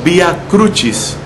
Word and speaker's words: vía crucis: lugar el vía crucis deberíamos pronunciarlo vía crucis porque es una expresión latina que quiere decir el camino de la Cruz el camino que hizo